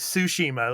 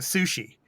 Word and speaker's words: Tsushima: game okay whatever okay the way you pronounce it is tsushima like a sushi it's like it's not sushi tsushima like a tsu tsu yeah tsushima yeah anyway go ahead